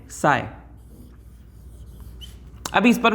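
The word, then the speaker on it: psi: ये जो त्रिशूल आपको दिख रहा है ये एक मैथमेटिकल टूल है जिसको हम लोग क्या कहते हैं बच्चों, पी साइलेंट साई।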